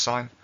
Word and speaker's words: sine: it looks like it says i promise it's pronounced sine and it would be good to do a